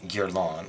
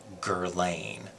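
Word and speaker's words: Guerlain: to try giron now instead of saying giron like everybody else would and that's not how they say it in Europe try saying it with an actual Parisian accent try it with me now gerain I'll do it again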